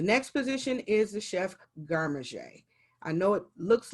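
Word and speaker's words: garde manger: position is the chef garmaje i know it looks like it says guard manager but it is pronounced garmaje because it's french and it is the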